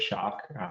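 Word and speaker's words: Schöck: see the most is shock s h o e c k something the spelling is a little bit weird we just pronounce it shock isocor is the uh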